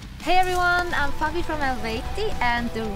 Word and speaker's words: Eluveitie: Hey everyone, I'm Fabi from Elveti, and the right way to pronounce our band name is Elveti.